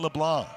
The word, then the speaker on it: LeBlanc: Tyson LeBlanc, the C is silent, but it stands for clutch.